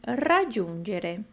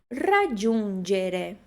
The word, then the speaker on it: raggiungere: Raggiungere. Qual é a segunda sílaba importante deste verbo? Giun, né? G-U. G-I-U. Giun. A gente não pronuncia jun, a gente pronuncia giun. Gere. G-E-G-G-I-D. Raggiungere. Raggiungere.